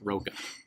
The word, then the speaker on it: Rocha: He's very adamant that it's just Roca.